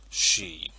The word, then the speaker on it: Sidhe: to move on and talk about the sheet and yes that is how you pronounce that word she in this case the Arcadian she now